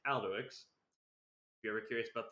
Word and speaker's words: Alduics: But yeah, this has been Alduics. That's how you pronounce my name. It's not all the dicks or anything like that. It's Alduics.